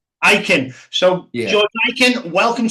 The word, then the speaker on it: Ikin: Georgie Ikin, or Ikin, are we pronouncing that, George? Ikin. Ikin.